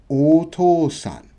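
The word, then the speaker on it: お父さん: So O to u sa m.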